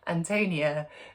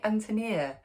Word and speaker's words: Ántonia: Bohemian name anonia is strong accented on the first syllable like the English name Anthony um so immediately even